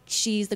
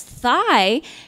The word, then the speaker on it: Thi: me to assimilate when my name is spelled thi supposed to be pronounced T and when the substitute teacher says my name out loud as Sai and all the kids